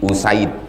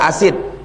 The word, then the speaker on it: Usaid: 343 waan abi usaid cara membacanya bidammil hamzah u wa fathisin Sa jangan baca asid. Asid itu asam. Asam asid usaid.